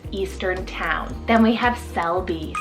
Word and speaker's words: Selby: this one means Eastern town then we have Selby spell s-e-l-b-y Selby it means from the willow